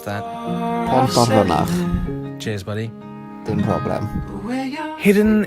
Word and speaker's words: Pontarfynach: Nathan, how do you pronounce that? Pontarfynach.